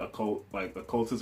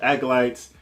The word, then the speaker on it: acolytes: When I was a kid, I used to pronounce that occultists or something. I didn't know how to pronounce acolytes when I was young, but I kind of figured out as I got older. So acolytes, and then you got